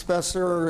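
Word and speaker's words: Speser: So my name is Spesser. It's spelled S-P-E-S-E-R.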